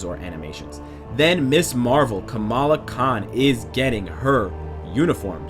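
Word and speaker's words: Kamala: Guys, get hyped for Camila Khan. Camala Khan. I mispronounced it more than once.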